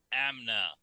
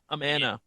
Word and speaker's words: Amana: And this parade's brought to you by McDonald's and Amna. Amana. Oh, okay. That's how you pronounce it?